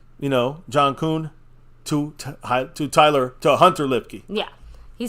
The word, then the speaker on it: Kuhn: I don't know how you say Kuhn. Yeah, Kuhn, that's right.